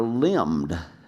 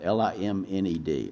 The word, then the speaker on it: limned: There are questions about whether these are watercolors in the English tradition of that medium, or whether they were limned, and I'll spell that, L-I-M-N-E-D, limned, a technique often used to describe what we now call miniature painting.